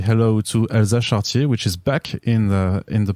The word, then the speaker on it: Charretier: No, Elsa is fine. Charretier is fine too. I wouldn't ask you to pronounce it in French. I say Elsa Charretier.